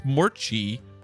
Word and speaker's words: Morchi: I mispronounced it once. I think I said Mory. It's Morchi.